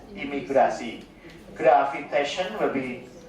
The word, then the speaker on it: imigrasi: Immigration will be pronounced as imigrasi.